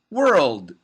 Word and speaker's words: world: the third syllable but then you need the d the final d sound so you can make a stop d sound which sounds like this world world world i just